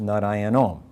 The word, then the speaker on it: nārāyaṇam: If narayanam is at the end of a line, it's pronounced narayanom.